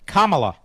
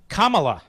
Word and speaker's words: Kamala: so does come on what how do you pronounce Harris's first name Kamala Kamala it was Kamala now she's running for president it's Kamala and so does Kamala Harris and same with